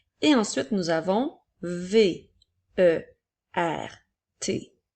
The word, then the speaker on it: vert: Alors, nous avons le mot vert, V, E, R, T. La lettre T est une lettre muette. Elle est là pour nous permettre de faire la couleur verte au féminin.